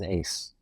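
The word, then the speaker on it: AIC: was Ace Ace his his pronunciation is Ace Ace but the spelling is deceptive yeah it is you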